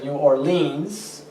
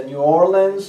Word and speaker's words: New Orleans: O en algunos casos se pronuncia New Orleans. Depende de cuál parte del país uno vive. La ciudad se pronuncia New Orleans o New Orleans.